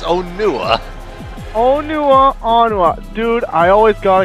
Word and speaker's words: Onua: It's Onua. Onua. Dude, I always got it confused. I didn't know how to pronounce it.